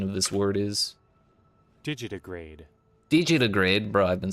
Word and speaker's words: digitigrade: Need to hear what the proper pronunciation of this word is. Digitigrade.